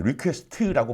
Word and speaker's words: requests: 어떻게 하는 거냐면은, 자, 내가 발음은 이제 리퀘스트라고 발음을 하겠지만 실제로는 끝에 s가 붙어 있는 애입니다.